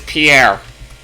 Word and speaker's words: Pierre: The name of this South Dakota state capital isn't pronounced like a French name, but like a synonym for dock. Player one. What is Pierre?